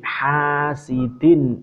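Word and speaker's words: حاسد: Ini agak panjang, bukan ha. Bukan ha yang bulat tapi ha tipis. Wa min syarri hasidin idza hasad.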